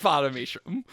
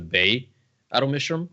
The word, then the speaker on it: Ba-Ado-Mishram: She doesn't like Ba-Ado-Mishram.